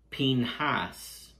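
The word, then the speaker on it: Phinehas: going to begin with his name the name Finney has is a borrowed name from the Egyptian language in Hebrew his name would have been pronounced pin Haas but his name is not Hebrew his name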